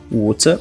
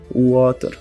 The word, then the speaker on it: water: Então, em vez de dizer water ou water, eles vão pronunciar de forma mais alongada esse wa. Então, seria como water.